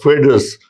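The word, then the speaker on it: foedus: See, it has been derived from a Latin word which is pronounced like fedus, which means agreement.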